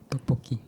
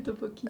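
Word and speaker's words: 떡볶이: Tteokbokki. Des tteokbokki. Vas-y. Tteokbokki. Des tteokbokki. Oui. Prononciation, c'est un peu galère, mais... Mets-le bien en face quand tu parles.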